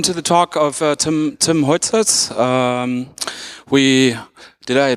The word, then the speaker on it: Huijzers: Yeah, welcome to the talk of Tim Huijzers. Did I pronounce it correctly? It's close. Huijzers.